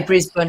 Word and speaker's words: Brisbane: A lot of Americans pronounce it Brisbane. Not me. I say Brisbane because I was born in England.